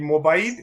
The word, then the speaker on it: Mobayed: with the lovely saeed mobile am i pronouncing your name right mobile mobile okay that's it perfect spoken like a true